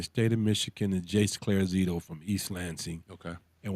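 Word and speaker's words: Clarizio: number two okay SP his name Jay is it's spelled Claire C l a r i z i o clear Z CL Z Jace J A CE right oh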